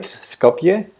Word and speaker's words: Skopje: people will recognize it oh but I am pronouncing it right Skopje that was lucky because I I know absolutely